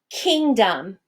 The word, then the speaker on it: kingdom: What about the word kingdom? Kingdom. Do you hear the sound in the second syllable?